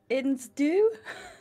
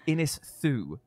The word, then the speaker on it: Ynysddu: So the street name is YNYS, and then it's a space, and then it's DDU. So YNYSDDU. YNYS. So how would you pronounce that first? Insdu. Insdu. You know what? That's better than what. So one of apparently Ins one do, of the do. So it's apparently it's meant to be Innisthu.